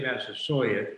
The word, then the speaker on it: Massasoit: do it we say massive sawyer because that's how uh bradford wrote it he he wrote it with a y which would indicate that that was quite how he pronounced it as well so in